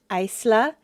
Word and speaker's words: Eistla: Their names are Angaya A N G E Y J A T L A Isla E I S T L A Area Argafa